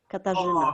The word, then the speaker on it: Katarzyna: Oh, Katarzyna, is that how you say it? Katarzyna.